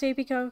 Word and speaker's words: Apico: i think it's pronounced apico because like apiary um anyway we're finally